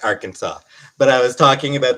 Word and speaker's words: Arkansas: Like, I know that the state is pronounced Arkansas, but I was talking about the fact that they have a law.